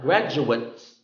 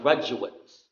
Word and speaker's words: graduate: rebel graduates graduate okay so in the graduates of schwa graduates it's the person who will graduate graduate is the act of graduating so if it's a noun graduate if it's a verb graduate so for example there are